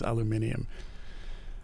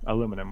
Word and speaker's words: aluminum: chat and objecting to the pronunciation of aluminum versus aluminium oh it's aluminum we're we're canadian but